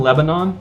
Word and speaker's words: Lebanon: I live in Lebanon, Missouri, which is spelled the same as the country, but pronounced differently.